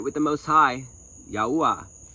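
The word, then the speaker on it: Yahuah: Yahuwah. Say his name right. Yahuwah.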